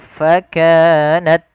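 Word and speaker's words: فكانت: lafal fakanat at pada lafal ta sukun ta memiliki salah satu sifat hames ketika hamesnya ini tampak ketika dia sukun saja maka jangan terlalu banyak ketika dia berharakat maka dia ta c ta cukup saja sedikit dikit fakanat sehingga menyempurnakan daripada makhraj dan sifat huruf tanya-nya.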